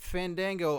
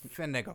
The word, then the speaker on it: Fandango: bit until you say his name properly uh fego no you you've got to say his name I don't know who you're talking about F Fango no no no no no guys I think